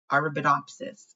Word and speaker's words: Arabidopsis: Once I learn how to pronounce it, it'll be my favorite word ever. Favorite word ever, I'm sure. But it's Arabidopsis. Arabidopsis.